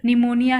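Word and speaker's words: pneumonia: Straight, talk, कम, निमोनिया है, तो इसे P हम निमोनिया का साइलेंट क्यों रखते हैं, तो ये सब हमें जानना है.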